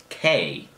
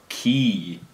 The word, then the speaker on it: cay: English people say Cay, but Bohemian people say Key. But it's spelled C-A-Y.